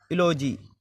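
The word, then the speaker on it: eulogy: ई यू का उच्चारण ई यू का उच्चारण यू की ध्वनि में यू जैसे इलोजी ई यू एल ओ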